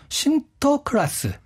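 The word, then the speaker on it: Sinterklaas: 그 얘기를 갖고 들어왔거든요 근데 네덜란드어로 이걸 발음하면 신터클라스 이렇게 된다고 해요 그래서 이게 영어가 되면서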